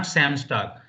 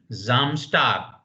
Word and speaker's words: Samstag: Not Samstag. Zam. Now you have to practice this. S at the beginning Samstag, in German Sonntag. is pronounced like Z. So please remember the pronunciation will be Samstag. Z, Samstag. And Sonntag.